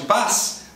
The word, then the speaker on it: paz: Qualquer Z escrito em posição final vai ser pronunciado S em português.